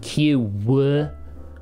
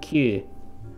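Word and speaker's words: 九: as always it's not q woo there's no w on the end there it's not q it's q alright and even me i'm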